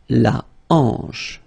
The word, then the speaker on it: hanche: La hanche. Remember, H here is not pronounced, so you get the sound en, hanche at the beginning.